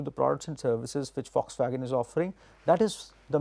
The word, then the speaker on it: Volkswagen: English, it is written as V-O-L-K-S wagon, Volkswagen, but it is pronounced as Volkswagen.